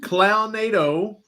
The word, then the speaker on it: Clownado: We watched Clownado, that's how you pronounce it.